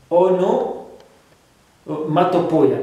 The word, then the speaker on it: onomatopoeia: It's a bit difficult to pronounce. Okay. Onomatopoeia. It's onomatopoeia. Yes, it's onomatopoeia. Onomatopoeia.